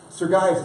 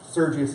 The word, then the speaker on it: Sergius: Pro Aesthetics design process now sergas is a weird name and sergius is what I called it for like the first two weeks because that's how it's spelled but Marcus sergas in